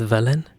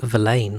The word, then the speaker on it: villain: Same with villain. Yeah, if you didn't know, you would probably say valain, right?